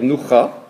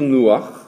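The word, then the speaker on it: נוח: On ne va pas dire noucha, mais on va dire nouach.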